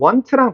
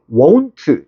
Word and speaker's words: won't: 이거 발음은 want랑 달리 won't. 약간 요렇게 하면 돼.